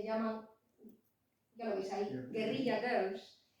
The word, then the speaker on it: guerrilla: Pero alguien que sea anglohablante no es capaz de pronunciar la palabra guerrilla, y la pronuncian exactamente igual que pronuncian la palabra gorila, que la escriben como la escribimos nosotros. En inglés, gorila se escribe como en castellano, y ellos más o menos dicen gorilla, pero cuando leen guerrilla, dicen gorila.